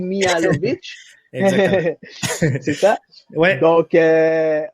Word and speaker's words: Mihailovic: On peut pas se le cacher parce que l'arrivée de Mihajovic, excuse-moi si je le prononce, c'est Djordje Mihailovic.